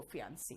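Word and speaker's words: fiancé: जो है महिला, वो फियांसी है, ठीक है। यहां पे फियांसी और फियांस बोलते हैं, बाकी ई का कहीं भी प्रोनाउंसिएशन नहीं आता, ठीक है।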